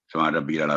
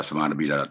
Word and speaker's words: سبحان ربی الاعلیٰ: اس کے بعد یہاں بھی سبحان ربی الاعلیٰ سبحان ربی الاعلیٰ، تو یہ نہیں ہے صحیح درست انداز. سبحان ربی الاعلیٰ، کیونکہ انسان خدا کے حضور پیش ہوتا ہے تو بڑے صحیح احتیاط سے اس انداز سے پڑھنا چاہیے. سبحان ربی الاعلیٰ، آئین پر جزم ہے تو سبحان ربی الاعلیٰ. تو یہ ہے اس کا صحیح تلفظ.